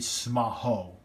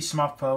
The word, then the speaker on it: Smapho: the Smaho football because the build driver actually pronounces it that way. So it's actually Smaho, or it could be Smapho or Smapo, whatever you want to say.